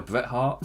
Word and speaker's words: Bret Hart: Well, I will be back on Saturday to talk about the Royal Rumble, which is, you can't Bret Hart, that's how you say it.